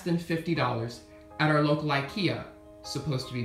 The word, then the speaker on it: IKEA: ceiling for less than $50 at our local Ikea supposed to be pronounced Ika and it was an amazing deal as you